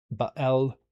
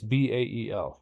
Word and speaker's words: Bael: The Fallen Thrones, such as the Baal Courts, no, it's not a Baal or Baal or Baal or Baal, however you want to pronounce it, but it's Bael or Ba'.